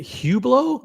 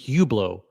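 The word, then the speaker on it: Hublot: Is it Hublo? I really can't get get past the fact that he's pronouncing it Hublau.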